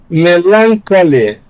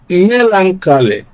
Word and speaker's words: melancholy: Option A, melancholy. This sounds the natural way to pronounce this word because it is a noun, and in most nouns, words, in most nouns, you have stress on the first syllable.